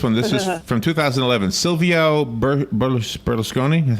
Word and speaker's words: Silvio Berlusconi: Silvio Berlusconi, is how you say it, the former Italian prime minister.